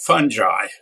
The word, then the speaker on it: fungi: I pronounce it fungi. There are fungi, okay. Okay, there are very few fungi out at this time of year. That would be what I would say. But, there is no real rule. If I suppose you looked it up somewhere online, perhaps it would say alternate pronunciations. Fungi, fungi, fungi is not as common.